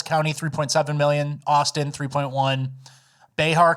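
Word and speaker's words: Bexar: 3.7 million Austin 3.1 Behar County you don't pronounce that X right beh I'm assuming uh 3 million Tarant County 2.6 6 million.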